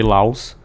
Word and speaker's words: Laos: ali, Vietnã, Camboja e Laos. Perdão, tem um S, mas não se pronuncia o S.